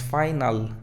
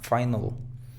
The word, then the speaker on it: final: La palabra final no es final porque está ahí una A, no, sino es schwa, final.